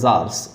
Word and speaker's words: czar: He lived in Russia during the rule of the jars और emperor. जार के spelling याद रखिएगा, CZAR लिखा हुआ है, इसलिए इसमें सी को नहीं बोला जाता है।